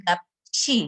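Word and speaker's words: 값이: Lalu gap ketika bertemu dengan i, membacanya menjadi gapchi gitu.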